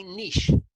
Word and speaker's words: niche: needed to find my niche and by the way all of you American folk out there this is how it's pronounced it's a it's a French word and it really is